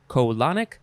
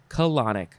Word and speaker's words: colonic: you could also say colonic but you still emphasize the la colonic colonic first form adjective from